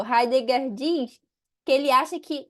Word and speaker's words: Heidegger: Heidegger, é essa a pronúncia correta? Heidegger.